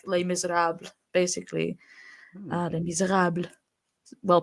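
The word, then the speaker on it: Les Misérables: Les Miserables, well pronounced.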